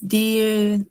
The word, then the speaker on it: die: Cuando hay una IE se pronuncia como una I larga. ¿Sí? Una I es una I larga. No es die ni die como sonaría si fuese en inglés, sino es die Nacht.